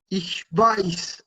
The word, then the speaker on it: ich weiß: ¿Cómo se pronuncia el ich weiß?